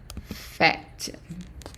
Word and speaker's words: faites: And of course, the ES at the end of words in French, always silent. So basically, we added the T, ES, but we only pronounce the T. So we added TES, and the ES silent. So we just say vous faites.